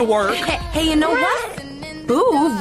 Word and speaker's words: Boov: Boov rhymes with groove.